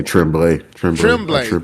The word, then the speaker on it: Tremblay: Timblay? I say Tremblay.